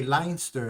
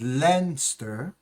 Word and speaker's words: Leinster: We have the URC final, which is just between, I always used to say Leinster. It's not Leinster, it's Leinster There you go.